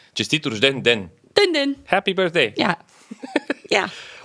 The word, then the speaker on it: Честит рожден ден: I think pen was at the end. Pen? Den. Den is like a day. Честит рожден ден.